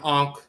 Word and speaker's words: ankh: You see the term ankh. The wavy line here is the wavy. It's a water line, but it's also electromagnetic wave and so forth. That's the n sound, that wave line. And then the cf right here, the circular dark circle, is the k sound, but it can also